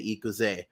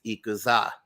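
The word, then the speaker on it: 行くぜ: In One Piece, when so in Japanese, when people say let's go, they say ikuze, but Luffy says ikuza.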